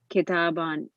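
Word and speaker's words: كتابا: the accusat accusative case takes an alif which is not pronounced example kitabun keta bin kitaban correct so what happens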